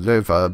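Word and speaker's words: Loewe: My sister and Lo. In German, that name would technically be pronounced Löwe, but they're not really consistent about that, or I don't know.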